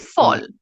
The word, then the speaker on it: fall: pronounce them tall and fall right although we have a a in them we pronounce it as o so we say f